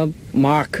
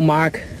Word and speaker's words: มาก: มาร์ค จริง ๆ แล้ว ชื่อ กู ต้อง ออก เสียง ว่า มาค มา แล้ว คน ที่ เรียก กู ว่า Mark ก็ มี อยู่ คน เดียว คือ Daddy แต่ เขา กลับ